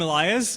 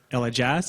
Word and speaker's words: Elajjaz: for showing up I'm Elias or Ella Jazz as most people like to call me it is Elias though the J is silent and I mainly specialize